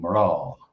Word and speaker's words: mná: Why is the MN combination pronounced sometimes M or? Example, mná becoming mrá. Or mrá.